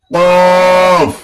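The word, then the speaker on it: قاف: ফা তারপরেরটা চলে আসি কফ কফ কফ কফ কফ কফ লক্ষ করি এই কফের উচ্চারণটা অনেকেই করতে পারে না অনেকে কফ বলে কফ কফ কফ বললে উচ্চারণ ভুল কফ হবে না এখানে যদি ভুল হয়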